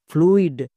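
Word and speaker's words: fluid: তাহলে কি হলো এফ এল ইউ আই ডি ফ্লুইড সো শব্দের যেখানেই আমি ইউ আই দেখতে পাবো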